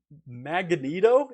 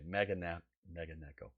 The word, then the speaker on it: Meganeko: Matt is sharing one of his favorite artists, a one-man band from Sweden called Magneto. Is that how you pronounce it, Matt?